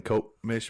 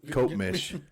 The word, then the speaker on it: Copemish: up in Cope-Mish, Michigan, with the Dirt Dudes. Cope-Mish. That's what it's called. It's hard to pronounce.